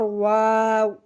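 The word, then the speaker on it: واو: এরপর ওয়াও, ওয়াও, ওয়াও আমরা দুই ঠোঁট হইতে উচ্চারণ করব ওয়াও, ওয়াও।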